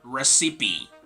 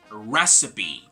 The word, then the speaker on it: recipe: This is not going to be recipe or something like that, but rather recipe. So the stress is placed in the first syllable.